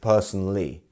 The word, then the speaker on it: personally: have personally personally personally so we actually don't say this Ali bit here it's just personally um so we have which which syllable here is our stress one we have personally it's not personally personally three it's our first syllable right p p and